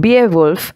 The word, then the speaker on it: Beowulf: of english literature is beowulf the spelling is b e o w u l f but the pronunciation is beowulf so beowulf is english literature's